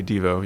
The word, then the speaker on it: Devo: It's uh integrating EVO and Devo. Is that how you pronounce it or do I probably say DVO?